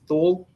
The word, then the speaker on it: Thule: I said it wrong for a long time. I called it Thule or Thule, but it's Thule. Thule.